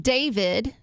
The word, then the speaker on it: D4VD: David. But it's spelled D4VD.